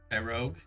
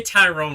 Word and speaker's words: Tyrogue: Tyrogue. I always say Tyrone whenever I say his name. And I know it's wrong, but my mind my my I just impulsively throw the ant in there.